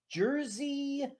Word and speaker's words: Jerzy: It was based on a story by Jerzy Skolimowski. Skolimowski. And Jersey's not spelled like New Jersey. It's got a Z in it.